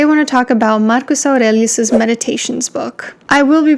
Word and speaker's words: Marcus Aurelius: want to talk about Marcus aurelius's meditations book I will be pronouncing his name Marcus Aurelius is that's how Romanian would pronounce it and I don't know